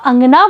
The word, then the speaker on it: अंगना: देखिए अगला शब्द है अंगना। जब आप अंगना बोलेंगे तो आप पाएंगे कि अनुस्वार की ध्वनि नाक से निकल रही है, यानी उच्चारण में अलग बात है।